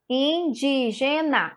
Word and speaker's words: indígena: palavra indígena indígena indígena a sílaba tônica do indígena é o guia então essa palavra indígena lá o que oxítona paroxítona ou proparoxítona quem quer responder e ela é o que a palavra indígena o que é proparoxítona e isso mesmo muito bem certíssimo é uma proparoxítona tá porque a sílaba